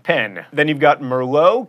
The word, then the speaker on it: Merlot: Then you've got Merlot, keep that T silent, and caramel.